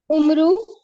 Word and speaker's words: عمرو: اس کو پڑھتے ہیں عمر، حضرت عبداللہ بن عمر. اور اگر عمر ہوتا تو یہ واو نہ ہوتا. یہ واو پڑھا نہیں جاتا، یہ صرف تلفظ بتانے کے لیے کہ یہ مختلف نام ہے، عمر سے آتا ہے.